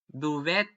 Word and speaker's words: duvet: For example, words coming from French and the eight of laundry it when I read them pronounced and the start in the French way, as in the A in the day.